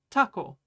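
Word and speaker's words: たこ: This is taco. It's pronounced almost exactly like the word taco in English, or I guess Spanish?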